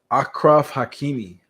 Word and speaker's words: Achraf Hakimi: his name is let me make sure I pronounce it correctly his name is akraf Hakimi akraf Hakimi is a soccer player a Moroccan